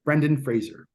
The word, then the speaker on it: Brendan Fraser: um and that's how you say his name Brendan Fraser everyone says it wrong but uh yeah for